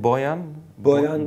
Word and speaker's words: Boyan: I don't know how to pronounce his name. Boyan.